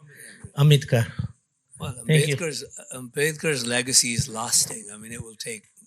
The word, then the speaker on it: Ambedkar: How do you pronounce? Ambedkar.